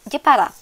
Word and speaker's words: Jepara: So, the location of Bandengan Beach is in Jeporo City or using Japanese pronunciation. In Indonesia, Jeporo is pronounced and written as Jepara.